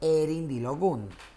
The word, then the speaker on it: erindilogun: Porque en el yoruba estándar en el que se enseña el número 16 no se dice merindilogun, se dice erindilogun.